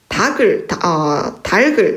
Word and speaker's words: 닭을: 네, 그 다음에 오늘은 닭을 잡아 손님을 대접해야 되겠다. 겹받침 중에 뒤에 나오는 기역만을 옮겨서 발음을 하기 때문에 닭을이 맞습니다.